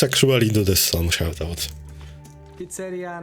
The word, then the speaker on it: pizzeria: Pizzeria, not pizzeria. Oh, I see. The emphasis on I, right? Pizzeria. Pizzeria. But you know, I'm speaking English, not Italian, so it's like pizzeria. I'm sure in Italian it's pizzeria or something like that.